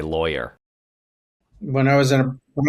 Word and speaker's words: Loya: We were saying that your last name is how um is pronounced how uh someone in Boston would say lawyer.